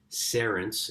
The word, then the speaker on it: Cerence: final story now so there's a company called serence it's spelled c-e-r-e-n-c-e for those listening uh and they've